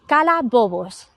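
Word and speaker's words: calabobos: where I am in Santander we call it kala bobos I'll spell that for you is c-a-l-a-b-o-b-o-s now kala comes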